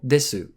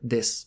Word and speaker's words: desu: to pronounce, followed by the final desu, or this.